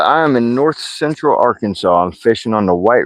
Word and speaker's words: Arkansas: Never could pronounce Arkansas, though. That's all right. A lot of people call it Arcan Kansas.